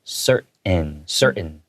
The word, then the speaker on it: certain: Yeah, you can say certain foods, but as a local English speaker, we usually tend to take hard T sounds in the middle of words and just kind of swallow it. So I pronounced it as certain, okay?